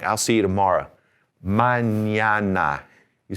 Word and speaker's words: mañana: manana. You say manana.